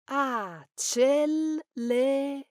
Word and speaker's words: accelerare: Because of this, many instinctively add another L, but the correct spelling and pronunciation has only one L, so we say Accelerare.